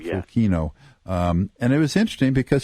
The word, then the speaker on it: Fukino: Is that how you pronounce the name? Fukino, yeah. Fukino.